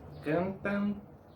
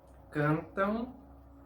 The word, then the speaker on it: cantam: No es cantan, dançam, brincam. E se cantam, dançam, brincam.